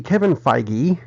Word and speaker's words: Kevin Feige: news after they finished the Captain Marvel movie Kevin Feige and that is how it's pronounced I called Marvel and asked hey they're